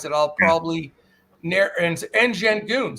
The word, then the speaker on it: Şengün: It's Şengün is how it's pronounced.